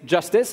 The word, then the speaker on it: JSTZ: So JSTZ, pronounced Justice, is an experimental roll-up that you can try with a JavaScript execution environment.